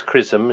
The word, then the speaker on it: XRISM: x r i s m uh but it's pronounce chrisum as you said um and it stands for